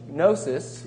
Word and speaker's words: gnosis: just lose any knowledge gnosis you know with the silent G of spent of contralateral